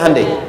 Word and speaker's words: Hyundai: Sehingga ketika di sana bikin Honda, sini Hande Hyundai kan dibacanya Hande ya kan.